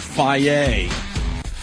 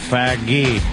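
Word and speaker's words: Fage: Someone's saying it's called Faggy. Faggy. But it's spelled Faggy. F-A-G-E.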